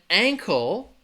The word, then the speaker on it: ankle: your relative your uncle uncle and ankle the difference would be uncle the stresses on that for Silla ankle the stress is also going to be on that first syllable but it's a different vowel sound that uh versus Aang uncle uncle uncle ankle